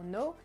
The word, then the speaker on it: know: Donc je vous rappelle, le K on le prononce pas dans know, même si dans l'acronyme il y est, on le prononce pas.